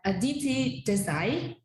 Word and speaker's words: Aditi Desai: And today we have Aditi Desai. Did I pronounce it right?